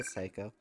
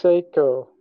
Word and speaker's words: Seiko: feel okay let's go psycho thank you so far is pronounced Seiko right it's pronounced Seiko okay they've literally said